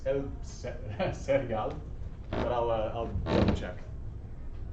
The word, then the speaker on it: cereal: I think it's el cereal, but I'll double check. Same spelling, just Spanish pronunciation. Let me make sure though. Yeah. El cereal. It's hard to say. No, it's only one R.